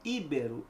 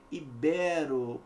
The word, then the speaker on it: ibero: aqui também é triste não é iberu é o que ibero paroxítona terminada em ó aqui a sílaba tônica